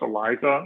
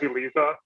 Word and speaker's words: ELISA: um but yeah essentially it's pronounced elisa although it could be read as elisa it's fine um but it's a essentially